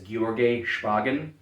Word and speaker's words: Georgy Shpagin: But all that being said, so the inventor's name, and I might butcher this because I don't speak Russian. I've heard it pronounced as Georgy Shpagin.